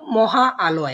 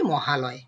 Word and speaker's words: মহালয়: আমরা বলবো মহা আলয়, এভাবে তো উচ্চারণ করি না, আমরা বলি মহালয়।